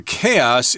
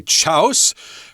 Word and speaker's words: chaos: And this stampede in Yemen led to chaos in the capital city there, Sana'a. And here we've got the word, well, can I say chaos?